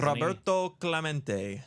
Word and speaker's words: Roberto Clemente: He wants you to say Roberto Clemente, doesn't Roberto Clemente.